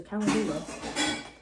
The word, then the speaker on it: calendula: I can't pronounce things and it looks like calendar, so calendula.